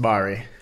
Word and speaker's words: Bari: Oh, it's pronounced Bari.